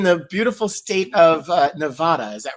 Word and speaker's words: Nevada: I I saw a bumper sticker that somebody posted today and it's uh it's not ne it's not Nevada, it's Nevada.